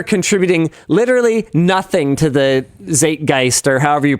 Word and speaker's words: Zeitgeist: So we are contributing literally nothing to the zeitgeist, or however you pronounce that.